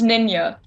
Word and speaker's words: Neenã: sad got it wrong Ninja yeah well it's nenya ninja Nina okay sorry about that um but